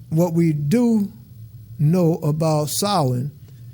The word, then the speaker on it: Samhain: solid and again it looks like should be pronounced Samhain but actually when I'm what I've learned it as pronounced solid and you see that the first of November